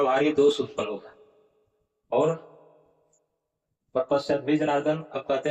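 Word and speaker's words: प्रपश्यद्भिः: और कुलक्षय कृतम दोषम प्रपश्यत भी जनार्दन, यहाँ पर उच्चारण क्या होगा, प्रपश्यत भी। अब ये जो रेप है इसका विसर्ग हो जाएगा, तो हो जाएगा प्रपश्यत भी, इस तरह से।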